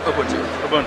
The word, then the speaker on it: Ubuntu: it in portrait mode ubuntu i can never pronounce it right ubuntu yes thank you i knew it wrong infrared